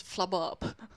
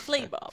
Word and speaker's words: Flabob: It's still so funny that we pronounced an entire stream of traffic patterns as Flabob. And it's Flaybob.